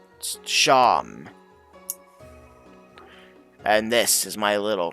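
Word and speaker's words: Seam: The name Sham. Pronounced Sham.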